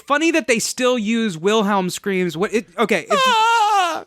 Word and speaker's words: Wilhelm: So it's funny that they still use Wilhelm screams. People say Wilhelm. They don't say Wilhelm. Isn't this? Yeah, but they probably should say Wilhelm.